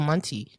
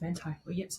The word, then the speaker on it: Manti: know if it's is it manti or monty because originally when i saw the name yeah i thought i saw the name sorry no i thought mentee too but then i heard the appearance say his name and i was like oh it's well manti yeah yeah like originally